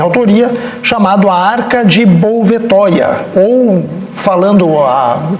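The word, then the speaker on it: Bouvetøya: chamado a arca de bouvetoya ou falando a pronunciando mais corretamente a arca de buia onde nós abordamos a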